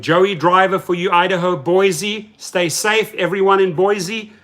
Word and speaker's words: Boise: And I would spell it out, B-O-I-S-E. And they said, no, that's Boise, you idiot. So finally I learned it's actually Boise.